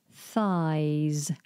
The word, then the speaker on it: thighs: This one might be a little bit tricky to say because you have a TH followed by a Z sound. Thighs, thighs.